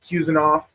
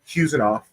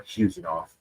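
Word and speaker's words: Khusanov: So there's Cusenoff. Uh, Husenoff. I guess the K is even more silent. If you talk to uh people from his area, it's more Husenoff. That's how you say his name.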